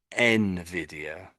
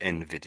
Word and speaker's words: Nvidia: sort of say is Nvidia or Nvidia something is what I've heard a couple of ways of saying it, but I think I'll try to say Nvidia if I can.